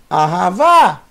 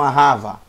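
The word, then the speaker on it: אהבה: Arravá. Por que que eu li arravá e não arrava? Arravá. Porque o último sinal massorético é um câmets, acento agudo do A.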